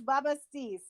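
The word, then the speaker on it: Bubastis: You pronounce it right. I don't know. It's Babastis.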